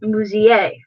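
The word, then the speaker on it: музей: Like in the word for museum, it's pronounced musée.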